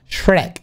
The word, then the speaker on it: Shrek: Pues sí, lo pronunciaría como se pronuncia en inglés. Shrek, Shrek.